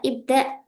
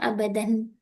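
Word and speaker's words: ابدأ: Lidha ini adalah ibda Ustaz Taufik. Ya. Ibda ya, bukan abadan. Ini Hmm. ada hamzahnya di atas ini.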